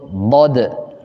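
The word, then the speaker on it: ضاد: Arab itu disebutnya lughatud Dod Huruf apa Huruf Dod kalau kita tulis begini aja disebutnya apa Nah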